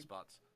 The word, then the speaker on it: despots: Despots. Despots is correct. Despots. Despots, Yeah. It's English vowel reduction.